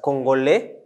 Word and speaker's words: Congolais: Congolais, we pronounce it as Congolais.